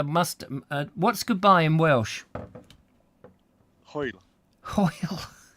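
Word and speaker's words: Hwyl: Hoyle. Hoyle. How do you spell that? How do you spell Hoyle? Hoyle. It's like as if you're trying to bring up a bit of phlegm.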